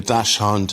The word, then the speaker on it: Dachshund: Dachshund, yeah.